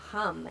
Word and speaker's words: ham: So it's associated with the primordial Sadashiva, and it's the syllable hum, H-A-M, which is another mantra I really like, the Soham or Hamsa mantra.